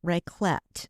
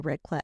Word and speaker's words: raclette: And today we're going to talk about a type of gathering called raclette. And I think I'm pronouncing that correctly.